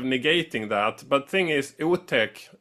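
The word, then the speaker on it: otäck: But thing is, Utech, not spelled like that, but pronounced like that in Swedish, means scary.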